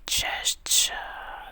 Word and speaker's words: Cześć: Cześć.